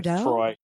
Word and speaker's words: Treu: It's Treu, but it's pronounced the other way, Troy, because my parents or my great grandparents decided to keep the pronunciation from that was German and Austrian instead of changing either the spelling or the pronunciation.